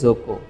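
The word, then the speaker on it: 族: থেকে ট্রাইব অথবা ফ্যামিলি এটার একচুয়াল উচ্চারণ একটাই হয় সেটা হচ্ছে জোক কি হয় জোক জোক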